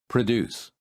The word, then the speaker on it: produce: with p r o in the first word the first syllable is stressed and therefore the P sounds like Pro and in the second